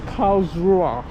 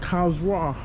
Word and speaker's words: Karlsruhe: For you dummies that don't know how to pronounce it, it's Karlsruhe.